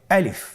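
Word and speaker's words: ألف: আলিফ। আমাদেরকে বলতে হবে বলুন আলিফ। আলিফে কিন্তু কোন টান নেই। আপনারা বুঝতে পারতেছেন আমি যখন আলিফ বলছি এর মধ্যে কোন টান হবে না।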